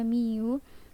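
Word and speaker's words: μ: ditulis dengan menggunakan simbol seperti huruf u itu dibacanya Miu untuk menyatakan rata-rata populasi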